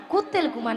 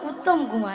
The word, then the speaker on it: উত্তম কুমার: কুত্তেল কুমার নয়, হ্যাঁ। বলো উত্তম কুমার। উ ও উত্তম কুমার।